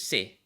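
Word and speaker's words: 生: it's determined um you you for this example you use the onyomi um pronunciation uh so gaku this is ga gaku gaku gaku and then life here is say that's say s-e-i say and you're gonna ask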